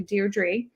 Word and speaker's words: Deirdre: a little bit of trouble saying my first name which is actually dear Dre um and I think it's like an East Coast thing I think people on the west coast are totally fine saying my name because I have an extra R um so yes so